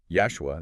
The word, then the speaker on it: Yashua: And it gets even more specific with the mention of an ancient rabbi, Yashua, that's Y-A-S-H-U-A, pronounced like Joshua, only with a Y sound at the start cited in the Gemara.